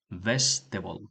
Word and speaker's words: vegetables: Vetable, vestable, okay, vest until here is vest. Hasta aquí es vest y luego table.